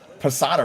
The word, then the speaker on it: Posada: a creamy dill sauce Posada rhymes with empanada we played the winter